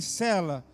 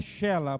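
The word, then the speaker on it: Selá: E ali nasceu três filhos, é, Onã e Cela, que na verdade é Shela, pronúncia, certo?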